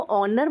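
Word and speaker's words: honour: अब यहाँ पर ये एच है तो हम इसको ह साउंड हॉनर नहीं बोलते, हम इसको ऑनर बोलते हैं. एच इसमें साइलेंट हो जाता है तो हम यहाँ पे अ के लिए एन लगा देंगे.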